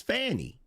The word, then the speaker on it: Fani: First of all, the way your name is spelled, the proper pronunciation is Fani.